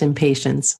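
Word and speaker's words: Impatiens: really helpful is called impotence which is really easy to remember what it's for because to me it sounds a bit like impatience and here in the states it is pronounced impatience oh it is oh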